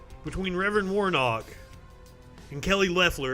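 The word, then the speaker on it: Loeffler: reverend warnock and kelly leffler apparently i've been saying her name wrong i've been calling her lawfuller also i need to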